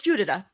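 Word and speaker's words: Judyta: Yeah, well, it's Judita. That's how you pronounce it. Judita.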